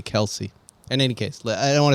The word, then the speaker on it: Kelce: this my opinion is it's pronounced Kelsey not not Kel it's Kel Kel that's